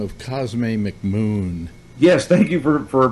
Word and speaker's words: Cosme McMoon: Character with the unlikely name of Cosme McMoon. Yes, thank you for pronouncing his name properly.